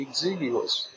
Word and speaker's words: exiguous: इसका correct pronunciation होता है एग्जिग्यूस।